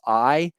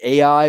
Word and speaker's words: Ai: the second city that the israelites destroyed was i uh many people say ai but i'm told by my colleagues in israel